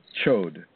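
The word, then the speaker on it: chöd: It's spelled C-H-O, the umlaut, or the O and D, D as in dog, chod.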